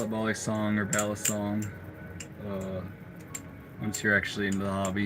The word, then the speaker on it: balisong: I love it most when they say balisong, so it's like they know the Filipino pronunciation, the OG.